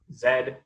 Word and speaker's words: Z: network by adding another member zed or as americans say z uh so y is